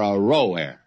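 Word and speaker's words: Aroer: to go back and give you another pronunciation of that the cities of r-o-air are row air are Forsaken and let's settle for a rower they are Forsaken and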